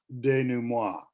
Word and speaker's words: denouement: then the resolution, or this interesting word is pronounced denouement. Denouement is how we pronounce it.